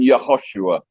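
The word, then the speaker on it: יְהוֹשֻׁעַ: It's not like Hosea and Joshua in the English. In the Hebrew, it's Hoshea and Yehoshua.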